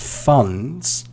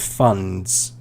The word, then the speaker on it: funds: and we're talking about funds but yeah i heard fun instead of funds so the sound although it's kind of it's not really stressed uh letter in that word it's still present but these are not